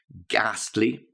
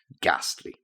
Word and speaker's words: ghastly: to look ghastly ly not ghostly remember ghostly is something different entirely it's to do with being white but I feel or I look Gastly look at the spelling of it and get the pronunciation I feel ghastly now the next one